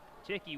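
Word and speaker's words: Thicke: a little bit low ticky one of the call it's spelled a little bit different than you would think t-h-i-c-k-e i asked the coach i said thick he said no ticking he works out of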